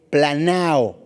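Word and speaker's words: πλανάω: En su diccionario griego es la palabra 4105 y se escribe planao con acento en la A. En la segunda A.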